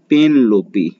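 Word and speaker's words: Penelope: अब पेनलोपी वेब, इसका उच्चारण है पेनलोपी, पेनलोपी एस लिखा है तो पेनलोपीज कर दीजिए, और वेब मतलब होता है जाल, तो पेनलोपी का जाल, पेनलोपी का जाल हो गया।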